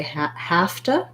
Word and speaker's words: have to: for your v so we say hafta instead of have to so again my u